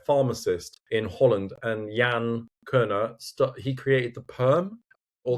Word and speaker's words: Keune: I've just started using products from a brand called Keune and that's how you say it. I've checked it. K E U N E Keune.